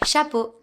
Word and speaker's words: chapeau: But EAU is O, like in bateau or chapeau.